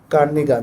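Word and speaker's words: Kernighan: আসলে উচ্চারণটাই কেমন জানো? কার্নিগান। হ্যা।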